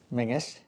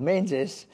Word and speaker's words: Menzies: And locally, it's pronounced Mingus.